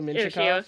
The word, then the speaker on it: Mintyukov: That was my Pavel Mintyukov, yeah. Yeah, that's exactly how I would have pronounced it.